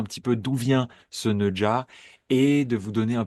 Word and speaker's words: Nezha: Neja, la prononciation, parce que j'entends déjà des Neza, des Neuza un petit peu à toutes les sauces. Alors non, Ne en français on connaît bien. Le Jaja, on le maîtrise aussi.